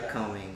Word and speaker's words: Lycoming: predictions for the game tomorrow as they play like coming. I think that's how you pronounce it. Not fully sure, but like coming and um coming. That's right. Lycoming.